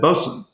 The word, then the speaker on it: boatswain: of last week but it looks like boatswain but it is not pronounced that way it's it's kind of like but quickly said bosun the ship's petty officer